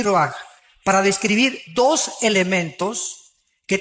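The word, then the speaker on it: רוּחַ: Se pronuncia roaj.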